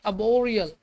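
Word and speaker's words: arboreal: sparing लिखी हुई है इसमें आर साइलेंट रहता है इसको पढ़ते अब वह रियल क्या बढ़ते अब और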